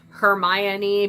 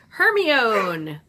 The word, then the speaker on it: Hermione: like in the book phonetically it says her my any because all of us including me were saying her me own because we're Americans and we don't know